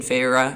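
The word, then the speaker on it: Feyre: Tamlin had already taken Fra Fra is how you say it, right? Yeah.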